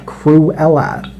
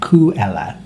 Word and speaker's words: Cruella: about this character and it's spelt with an r crew ella cruella de vil and sometimes i read it and it's only coo ella to go without the r cruella de vil and